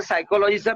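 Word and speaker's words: psychology: जसं सायकोलॉजीचा P silence आहे. सायकोलॉजी spelling माहितीये का तुम्हाला? बोलतोय आपण सायकोलॉजी, परंतु पी पासून स्टार्ट होते ती, जे सायलेंट आहे ते.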